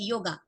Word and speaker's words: योग: ऐसा ही सेम ये है योगा, वो योगा बोलते थे, तो हमने इसका स्पेलिंग भी ऐसा योगा कर दिया, पर इसको योगा स्पेलिंग जो भी है, हमें इसको योग ही बोलना है।